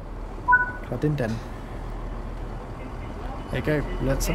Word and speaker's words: Cardenden: Oh, it's pronounced Cardinden. Is that right? Cardinden.